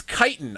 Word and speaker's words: chitin: the chitin was unusual the kite the kitten whatever i pronounce it as uh today um does not hard to nail down it's chitin i just always [ __